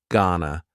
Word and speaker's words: gonna: Gonna is generally pronounced with the schwa, G-N-A, gonna.